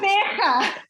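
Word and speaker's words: Gqeberha: How you pronounce it? Kabeja. You know, the thing is, you know, when we do training with the international market, at the moment, we have to use Port Elizabeth and Kabeja, because when I've used Kabeja in the past,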